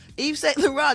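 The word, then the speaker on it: Yves Saint Laurent: on the fashion uh line Eve St La Eve St La did I say it right Gary y y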